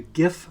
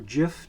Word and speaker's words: GIF: formats uh you'll see the GIF format here or GIF depending on how you pronounce it uh and JPEG and